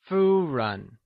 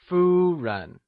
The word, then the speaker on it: Fūren: Fū is pronounced using the high level tone or the first tone, whileRen is pronounced using the neutral tone! Lets hear you say Fūren Good work!